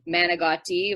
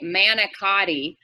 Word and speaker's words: manicotti: sort of signature dish is um managati or as americans say manicotti um i've definitely said